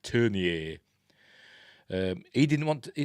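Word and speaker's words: Tourneur: apparently it turned it how they pronounce It in America they just called him Jack Turner but he's a Frenchman called Jack turnier um he didn't want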